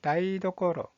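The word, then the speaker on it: 台所: 자, 부엌이라는 뜻을 가지고 있는 이 한자의 발음은 다이도코로, 다이도코로.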